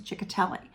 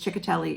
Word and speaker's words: Ciccotelli: whose last name was chicatelli and i love the name and everybody called her miss chick because chicatelli isn't written the way a lot of people would be able to pronounce it so people just called